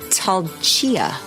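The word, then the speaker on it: Tailtiu: Yeah, Talchia.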